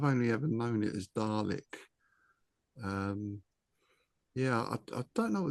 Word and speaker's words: Dalek: They're spelt Dalek, but they're pronounced Dalek. Right. Yeah, I've only ever known it as Dalek.